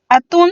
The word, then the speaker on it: atún: Otro ejemplo sería atún. Atún, si lo dividimos en sílabas, también son 2, siendo la sílaba tónica tun. Y como se tilda la vocal, pues nos quedaría atún.